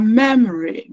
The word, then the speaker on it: memory: So we have memory. Me this one will be sure memory. Memory. So the stress is on the first level me.